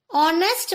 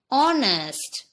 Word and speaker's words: honest: Honest man. Here too, H is not pronounced. That is, we can say H is silent. Honest.